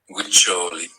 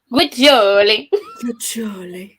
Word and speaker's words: Guiccioli: Do you want to hear how it's pronounced? Yes, please. Guiccioli. Guiccioli? Guiccioli. And it's definitely Italian. Guiccioli.